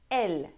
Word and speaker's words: él: For "Él", we have an accent on the E, "Él", "He". If there's no accent, then it is a masculine singular article.